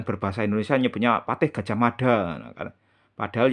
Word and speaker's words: Gajah Mada: Patih Gajah Mada padahal yang benar itu penyebutannya adalah gaj ahmada ujung lidahnya digigit ya dah ujung lidahnya di kena gigi ujung lidah kena gigi Gajah Mada itu yang bener pengucapannya seperti itu bukan Gajah Mada nah oke sumber kedua